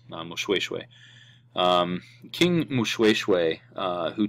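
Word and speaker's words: Moshoeshoe: these names um but this is pronounced in suu as mushes the OE is a is a way sound muswe um King Mushu uh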